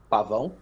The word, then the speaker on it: Pavão: Pavao. That's how you pronounce.